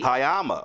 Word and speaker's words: Hayama: So, all right, first of all, did I pronounce this correctly? Yes, you did. Okay. Hayama Beauty. Hayama.